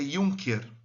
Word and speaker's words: Junker: Ele era um Junker, ou não é Juncker, apesar de ser com J, se pronuncia Junker, tá bom?